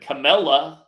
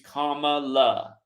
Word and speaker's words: Kamala: on here and said camela her name is not hard to remember if you can just remember it's like comma period comma that's how you remember how to say her name the wrestler the wrestler